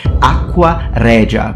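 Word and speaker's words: aqua regia: a specific solution called aqua rea with an Italian pronunciation in medieval Latin probably pronounced aquaria.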